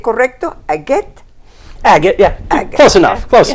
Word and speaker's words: Agett: ¿Lo pronuncié correcto? ¿Agett? Agett, yeah.